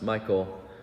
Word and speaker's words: Michal: them again, and especially remember the name Michal, sometimes pronounced Michael, not spelled the same way we spell Michael for a man's name, because who knows who Michal is?